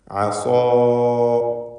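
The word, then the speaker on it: عصى: അസാ. ഈ പദത്തിൽ സ്വാദിനും അലിഫിനും തഫ്ഖീമാണ്. ഇസ്തിഅലാഇൻ്റെ ഹർഫായ സ്വാദിന് അലിഫ് നൽകി ദീർഘിപ്പിക്കുന്നു. ആ ദീർഘത്തിലും തഫ്ഖീം വേണം, തടിപ്പിച്ച് ഉച്ചരിക്കുക.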